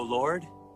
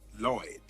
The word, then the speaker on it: Lloyd: Hail to thee, O Lord. Actually, it's pronounced Lloyd.